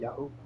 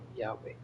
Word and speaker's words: Yahweh: Okay, that's also how they call him in the Torah, they call him Yahweh. They didn't call him Yahoo. Yahweh. The original name of Jesus in Hebrew is not Jesus.